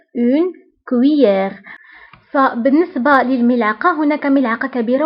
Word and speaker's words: cuillère: هنا نكتب 2 Z ولكن لا ننطقها، نقول une cuillère.